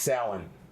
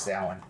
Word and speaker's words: Samhain: No, it's pronounced Samhain. Oh, okay. Yeah, it says right there, pronounced Samhain.